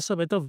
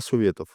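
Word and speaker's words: Советов: yo le digo Krylia Sopetov, pero cómo se dice? Krylia Sovietov, Sovietov.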